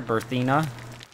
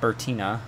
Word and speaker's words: Berthena: can get this is my character berthena uh uh not bertina I accidentally spelled her